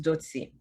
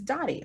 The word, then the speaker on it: Dotie: is so my first name is a little tricky because it only has one t the real way to pronounce it is dotsi the pre-approved alternative for anglophones is dottie like lottie dottie because